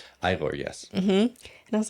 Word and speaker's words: Igor: This wasn't necessarily a question, but it was something we were talking about when the mouse on your game, his name was Igor. Igor, yes.